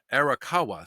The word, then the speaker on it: Arakawa: pianist um Betsy um araka I guess is how you pronounce that um arakawa sorry I believe that's actually how you pronounce it she was 63 by